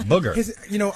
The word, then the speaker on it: Bougher: That's Booger, not Booker.